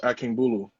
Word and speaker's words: Akingbulu: yeah boo loose baloo is really exactly how it's spelled pretty much so it's akin bulu i want to like